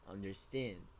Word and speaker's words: understand: one this is understand understand the stressed syllable is in the last one ten it is not understand okay it is understand okay understand yeah understand okay